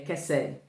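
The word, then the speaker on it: חסד: E aqui essa palavra bondade, ela é kesed. Desculpa a pronúncia, porque eu tenho duas pronúncias na minha cabeça aqui. É kesed.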